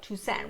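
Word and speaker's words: Tusaine: The next thing that happens is the country of Toussaint, I believe is how she pronounces it. Look at the maps here. I always love that. Yeah, it's Toussaint, which is east of them.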